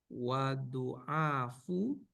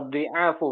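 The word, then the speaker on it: ضعاف: Sayaqulul juhalu wadu'afu wadu'aful ukuli. Nah, Wadu'aful ukuli minal yahudi wa amsalihim fi sah. Wah, ini beda pola ya. Wa dhi'afu bacanya.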